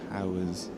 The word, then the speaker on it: Pougher: Now I know how to pronounce the Powers name.